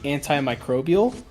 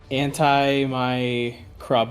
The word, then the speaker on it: antimicrobial: presentation and he said he tried to say antimicrobial which tough tough it's a tough one and how did he keep keep pronouncing he kept saying like anti my craile or something like that he was he wasn't saying even close to it I'm like I'm not